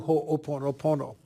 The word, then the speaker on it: Ho'oponopono: another in the series of self identity through hoponopono here is Dr E hakala hen welcome to